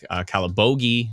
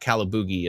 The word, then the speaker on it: Calabogie: Barry's Bay, Bon Echo Park, Calabogie, not Calaboogie, as I once said, Eastern Lanark County, Gatineau, all the way down to Ottawa North and South, Pembroke, Petawawa, Prescott, Russell, Renfrew.